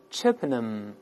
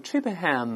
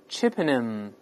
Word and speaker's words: Chippenham: Harp, Ballad, Ballad,Acrobatic, acrobatic, conjuring, conjuring, Athony, Athony, Chippenham. 这个注意，倒数第三个字母 H 是不发音的，所以不要读成 Chippenham，不这么读。